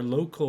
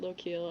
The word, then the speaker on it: Lokil: or i like low-keel because i don't like it sounding like local i'm a local a little man well like or if you're if you're a norse loki l right okay but i've always pronounced it local i don't know anybody